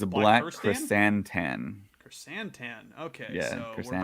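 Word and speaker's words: Krrsantan: It's Black Chrysantan.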